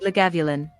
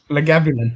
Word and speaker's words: Lagavulin: copped it in right so phonetically she put it out this is just said lagavulin lagavulin that's it that's fantastic yeah it's